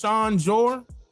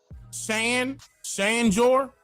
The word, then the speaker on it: Shan Jor: Is her name pronounced Sean Jor? Shan Jor? Yes? Okay.